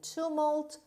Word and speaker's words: tumult: were too feeble to be heard above the tumult of the storm between the azimuth there was